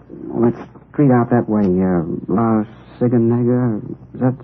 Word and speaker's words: La Cienega: Over on, that street out that way, La Cienega, is that how you say it? La Cienega, yeah.